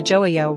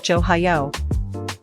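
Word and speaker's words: 좋아요: Then, joayo often becomes silent or merges with the following vowel sound, making it sound closer to joeyo rather than a hard johayo. Relax your throat.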